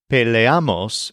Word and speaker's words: peleamos: The exception is peleamos, which stresses am.